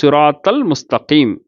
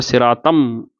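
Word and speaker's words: صِرَاطَ الْمُسْتَقِيمَ: அடுத்தது சிராத்தல் முஸ்தகீம் அப்படின்னு இருக்கக்கூடிய மீமு அல் முஸ்தகீம். சிராத்தல் அந்த தா போய் இந்த லாமில் போய் சேருது. தல் முஸ்தகீம் அப்படின்னு தான் ஓதுறோம். யாருமே சிராத்தம் அப்படின்னு சொல்லி தாவை கொண்டு போய் மீமில் போய் சேர்க்க மாட்டோம். ஷம்சியா கிடையாது, கமரியா. அப்போ சிராத்தல் முஸ்தகீம் லாமில் வெளிப்படுறது. அப்புறம் அல்ஹுதாங்கிற வார்த்தை ஹாங்கிறது கமரியாவுடைய வார்த்தை.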